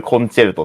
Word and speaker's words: 協奏曲: すけど、これ実はタイトルコンチェルトって読みます。